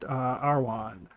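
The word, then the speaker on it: Arawn: Those dog soldiers represent Arwan. Or Aron. Arwan. Weird Welsh pronunciation.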